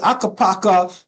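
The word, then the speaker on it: Ukko-Pekka: And Akapaka, this is how you pronounce it, Akapaka Lukanen made 32 saves.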